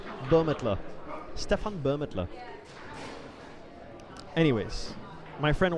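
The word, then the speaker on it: Bürmetler: I need to go talk to Stefan Burmelter. I need to learn how to pronounce it because I keep saying Burmelter and it's not Burmelter, it's Burmetler.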